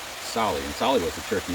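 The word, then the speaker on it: Tsali: As an example, our bike shop is called Sally, T-S-A-L-I, spelled with a silent T, Sally.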